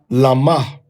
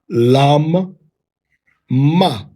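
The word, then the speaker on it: למה: It says, we would say in the One West Harlem Hebrew, we'd say lama, okay? Which means for what, or to what, unto what. Now, the Sephardic pronunciation would be lam ma, lam ma. All right. Now, the Tiberian pronunciation system, as well as the Taimani or the Yemeni pronunciation, would be lom, law.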